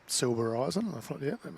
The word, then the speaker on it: Silbereisen: Before the match yesterday, JT, I went up to KANE and asked him, how do you pronounce his surname? Yep. And he said, SILBEREISEN.